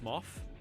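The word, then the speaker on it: Smough: I hate that uh I like how people pronounce Smo pronounce own name which is similar to Goff meaning smos would be pronounced smof dude I can barely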